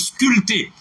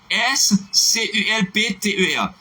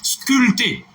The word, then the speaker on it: sculpter: Sous pareil, n'importe côté où appelez mot ça, le P ne se prononce pas dans ce mot. Est-ce que c'est clair pour tout le monde? Sculpter. S-C-U-L-P-T-E-R.